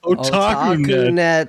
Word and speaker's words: OtakuNet: Is it OtakuNet? Yes. I don't even know how you said like Otakunet. Otakunet. I mean, It's it's phonetic.